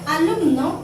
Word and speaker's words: alumno: La palabra alumno, al separar en sílabas, tenemos así. Como vemos, termina en vocal, se carga la voz aquí, pero lleva acento prosódico.